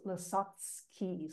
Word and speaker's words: Lasocki: his name is pronounced lski so the C has a TS sound at the end that's